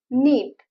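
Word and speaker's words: knit: करणेल मारणे ठार करणे नीट विन विणकाम करणे इथ प्रन्सिएशन बघा नीट स्पेलिंग आहे के एन आयटी के a silent letter it's नीट विण किंवा विणकाम करणे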